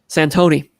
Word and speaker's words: Santoni: i think i said the device name right that time santoni provided by dan c nix ignore the t the t is silent um it's nice it's